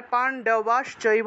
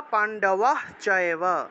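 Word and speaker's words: পাণ্ডবাশ্চৈব: একটা চ পাওয়া যায় এই হসন্ত যুক্ত তালুবস্য টাকে হ এর মত করে উচ্চারণ করা হয়ে থাকে ঠিক আছে তাহলে পান্ডবাস চৈব বলা যায় অথবা পান্ডবাহ চৈব পান্ডবাস চৈব পান্ডবাস চৈব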